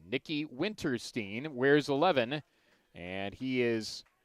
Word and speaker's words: Winterstein: it is nikki winterstein i pronounce my last name stein he pronounces it steen nikki winterstein wears 11 and he